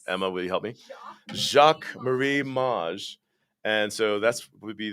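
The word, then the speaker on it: Jacques Marie Mage: and i've chosen the jacket i'm going to pronounce it all wrong again emma will you help me jacques marie maj and so that's would be this pair of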